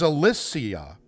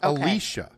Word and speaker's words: Alicia: 30 years yeah apparently we've been saying her name wrong this entire time alicia is it is it is alissia not alicia so i've heard it both ways okay alicia